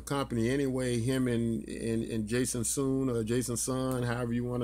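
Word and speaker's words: Sun: Jason soon not son as many of us have erroneously pronounce his name but it's actually pronounced Jason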